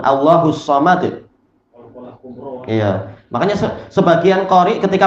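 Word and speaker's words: الله الصمد: Tapi kalau berhenti di situ maka apa? Disukun. Allahus samad.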